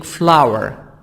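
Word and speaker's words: flour: silent wheat a plant is used for making flower flower this word flower flower soya bean a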